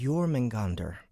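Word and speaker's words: Jörmungandr: In Norse mythology, it is known as a Jormungandr.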